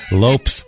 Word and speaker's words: Lopes: Lopes, and they say Lopes like ropes.